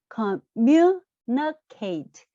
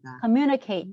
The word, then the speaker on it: communicate: 그래서 뮤에 액센트를 주시면 돼요. communicate. 예. communicate 이렇게 발음하시면 되겠.